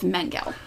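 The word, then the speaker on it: Mengele: Joseph Manguel. Mangala. Mangala. Mangala.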